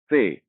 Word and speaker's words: ce: तीसरा लेटर से, इंग्लिश में इस लेटर को हम सी बोलते हैं, लेकिन स्पेनिश में इस लेटर का नाम है से। इसके उच्चारण के नियम लगभग लगभग सेम हैं जैसे इंग्लिश में होते हैं।